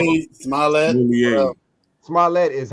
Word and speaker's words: Smollett: oh Jussie man, Smollett, Jesse Smouye. Smollett, like Smollett, they would say, Mouye, Smollett. Smollett. Smollett is how you say it.